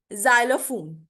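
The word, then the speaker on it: xylophone: Rule number 10, pronounce x like ji एट the beginning of a word. अगर beginning में आ जाए word x, ठीक है, तो इसको हम जी की साउंड में प्रोनाउंस करेंगे, जाइलम, ठीक है।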